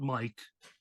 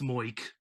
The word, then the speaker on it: Moik: It's not Mike, it's Moik.